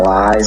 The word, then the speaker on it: Li: my name is not lies actually but you know everybody has a jerk name so i just cut it so but anyways yeah but it's pronounced lie well well that's highly